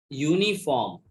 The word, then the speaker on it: uniform: Though U is the vowel letter, still its pronunciation starts with Y sound. Uniform. Y sound. Which sound? Y. And Y is not a vowel sound. It is a consonant sound.